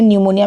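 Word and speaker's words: pneumonia: Cholerae, leprosy, P इज़ न्यूमोनिया, एंड जिसमें न्यूमोनिया में P silent है।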